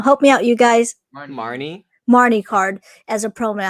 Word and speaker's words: Marnie: How do you feel about the US releasing the Marine card? Not Marine. Oh my god, I can't pronounce her name now. Help me out, you guys. Marnie card as a promo.